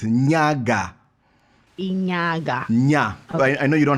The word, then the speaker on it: Nyaga: that yeah bunny face so how do i pronounce your surname yes this african names where they have issues so it's nyaga yeah i know you don't have one yeah